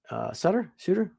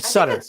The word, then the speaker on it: Sutter: Sutter? I always say his name right. Sutter. It's Sutter. It's Yes. Sutter? I thought it was Sutter.